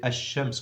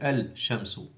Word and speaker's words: ash-shamsu: sun letter, hurufun shamsiyatun, it shows that you are not allowed to pronounce the lam. So you say ash-shamsu, you don't say al-shamsu.